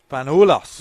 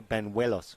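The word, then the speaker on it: Bañuelos: Just pretend it's a W. Banuelos. No, Banuelos. Banuelos.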